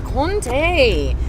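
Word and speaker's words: Comté: So Comte. Looks like Comte. But it is Comte, how you pronounce it, right?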